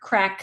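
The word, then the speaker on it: craic: I realized as I was reading that I have never actually seen the word crack spelled the the way Irish say it's good crack. I just pictured it spelled like you know the English word and I did not realize that it's c r a i c.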